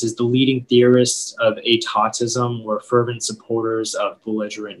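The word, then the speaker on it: étatisme: Yeah, so the only pronunciation is atautism.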